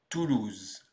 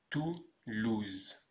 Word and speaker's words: Toulouse: Et on prononce donc Toulouse. Toulouse.